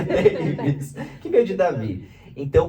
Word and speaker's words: Davis: Eu falo, meu nome é Davi com S no final. Mas pronuncia Davis. Pronuncia Davis, que veio de Davi.